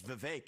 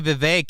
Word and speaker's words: Vivek: If I say my name's Vivek, it rhymes with cake. It ain't about thee. No. If I say Vivek, it rhymes with cake.